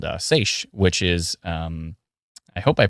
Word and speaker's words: seiche: Oh, yeah, and there's also a phenomenon called seiche, which is, I hope I pronounced that right.